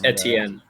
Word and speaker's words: Etienne: But I'm going to butcher this name, but Travis Etienne, I think is how you pronounce it. No clue. Is that off? Etienne? I think it's Etienne.